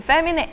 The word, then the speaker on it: famine: 이 famine의 A, 이제 이 A를 우리말에 이제 에라고 발음을 할 때는 꽤 입을 길게 벌리셔야 돼요. famine. 이거랑 우리가 feminism 할 때는 스펠링이 E잖아요. E를 E라고 읽을 때는 우리나라 말의 애처럼 그냥 가볍게 feminism 이러시면 되는데 A를 E라고 읽을 때는 길게 거의 아 발음하듯이 famine 이렇게 돼야지 됩니다.